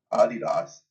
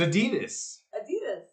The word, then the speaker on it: Adidas: like an XO of adidos was pronouncing it adidos and we're looking at each other like have we been saying Adidas this whole time it's Adidas it's Adidas Adidas like that's the American way Adidas but now with